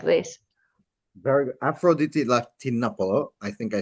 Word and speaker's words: Afroditi Latinopoulou: Afroditi Latinopoulou.